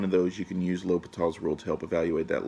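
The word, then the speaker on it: L'Hôpital: So when you read it, it's going to look like La Hospitals, but it's pronounced L'Hopital.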